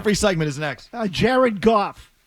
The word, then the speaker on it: Goff: Jared Goff Rhymes with cough.